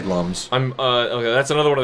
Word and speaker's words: Lums: I mean, I'm pretty sure, because I always said lums too, and then I could have sworn I read somewhere it's actually supposed to be pronounced looms. Loom because they're luminescent.